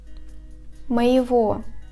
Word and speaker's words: моего: In the combinations of ого, его, the letter G is pronounced as the sound V. For example, сегодня, моего.